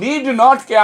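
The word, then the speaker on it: needn't: এরপর নিড নটকে আমরা লেখার সময় ব্যবহার করব, কথা বলার সময় বলবো নিডন্ট।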